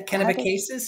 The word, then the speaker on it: Kennebecasis: John, New Brunswick, and raised in Jerrod, I meant to ask my husband how to pronounce this correctly before I got on. Kennebecasis. Yeah, Kennebecasis, yep.